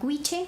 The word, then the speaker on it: Goitse: Les recomiendo un grupo que se llama Guiche, que se escribe Goitse.